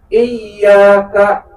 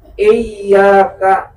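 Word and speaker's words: إِيَّاكَ: Kalau tasdid itu berarti ada 2 huruf. Iyyaka, berarti ya-nya ada 2 di situ. Iyyaka, kalau dibacanya tanpa tasdid nanti itu dikatakan, kalau sengaja bahkan hal yang dibaca tersebut itu maka dikatakan kafir, Bu, di dalam Fathul Muin. Karena apa? Karena iyyaka kalau nggak pakai tasdid artinya matahari. Tapi kalau pakai tasdid artinya hanya kepadamu.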